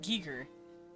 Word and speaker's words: Giger: And I looked it up, and it's like, yeah, it's German, so you pronounce it Giger.